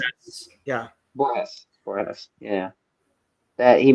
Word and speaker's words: Borges: I'm gonna Google the name real quick, but I still won't be able to pronounce it right. It's Jorge Luis Borges. How you Borges. say it? It's Borges? Borges.